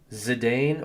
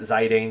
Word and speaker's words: Zidane: I think it's pronounced Zidane or Zidane, like the French soccer player. Exactly. So I always say, I always called it Zidane growing up just because, I was a teenage American kid.